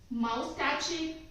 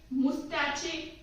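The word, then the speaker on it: moustache: Then माउस्टैचे, मुस्टैचे, नो, इट्स मुस्टैच।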